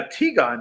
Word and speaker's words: Tigon: It is a Tigon movie.